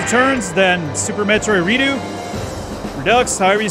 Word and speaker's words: Redux: But then I was like, wait, what if it's Redo? What if the X is silent, you know? Because I used to say Redux, and I guess that's the right way. Redux.